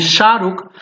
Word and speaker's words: शाहरुख: Like if someone name is शाहरुख, you will not से शाहरुख, सो शाहरुख will be the wrong, शाहरुख is correct.